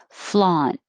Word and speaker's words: flaunt: right insurrectionist insurrectionist 33 flaunt so you hold your tongue in the t position flaunt as in flaunt it